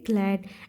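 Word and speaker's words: glared: बैठ गए एंड ग्लैड तो यहां पे आर साइलेंट होता है तो इसे पढ़ेंगे ग्लैड एंड द बार्बर यानी कि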